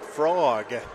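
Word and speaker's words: phrog: You're going to think that it's spelled F-R-O-G, but it's mm-hmm. This is creatively spelled P-H-R-O-G, frog. As a play off of photography.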